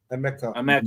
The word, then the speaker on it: Emeka: Is it Emeka? Emeka. All right, cool.